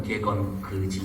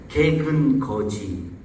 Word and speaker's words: 개근거지: 이거 발음 잘못하면 개건거지 이렇게 하면 안 돼요. 개근거지.